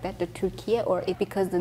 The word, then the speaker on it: Türkiye: So in Turkey, we call it Türkiye. In the United States, we still use the old and we also use the new pronunciation. So you can either say Turkey or you can also say Türkiye.